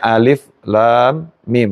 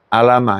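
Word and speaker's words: الم: yang yang tahu ee bacanya Alif Lam Mim bukan alam ini orang gak tahu dibaca alam ya Alif Lam Mim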